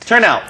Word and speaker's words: turnout: Yes, and the stress goes on the first syllable, so it's turnout. turnout.